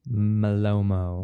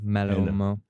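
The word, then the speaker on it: Malōmo: Malomo. Ma. Okay. Yeah. Yeah. A ma and then a you know the big line above the first O. Yeah. Malomo.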